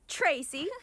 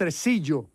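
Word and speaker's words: Tresillo: to queen poppy what not so fast tracy we're taking him it's pronounced residio if you want him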